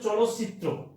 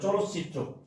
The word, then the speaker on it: চলচ্চিত্র: তাহলে উচ্চারণটা হচ্ছে চলচ্চিত্র, খেয়াল করতে হবে, চলচ্চিত্র।